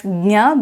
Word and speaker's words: ज्ञ: pronunciation of this letter I pronounce it as gya because I am from the south and this is how it is pronounced in my region as per the parara